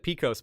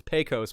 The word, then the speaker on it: Pecos: the pronunciation of pecos i said picos bill it's pecos bill so thank you for